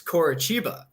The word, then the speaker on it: Coritiba: I just found out in the Brazilian league that the TI makes a ch sound. Like it's Bragantino and it's Coritiba.